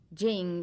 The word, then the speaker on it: Ching: meaning virtue or power spelled te Jing spelled c h i n g Jing is a label given